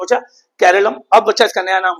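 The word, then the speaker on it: കേരളം: कहता है मलयालम में लोग हमेशा से अपने राज्य को केरलम बुलाते आए हैं। अंग्रेजी में इसे केरला कहा गया जो एक बाहरी उच्चारण था।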